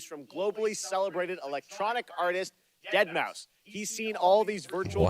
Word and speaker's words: deadmau5: your good friend joel professionally known as deadmau5 yes that is the correct way to pronounce it tell your friends we're